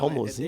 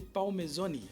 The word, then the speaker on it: Palmezoni: Muito Como é que pronuncia? É Palmezini? Não, Palmozini? é Palmezoni.